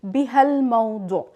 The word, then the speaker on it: بهالموضوع: So in this case, we will drop the a and connect ba and ha to the la, and then it would be pronounced بهالموضوع.